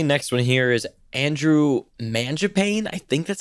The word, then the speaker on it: Mangiapane: And my next one here is Andrew Mangiapane. I think that's how you say it. Mangiapane.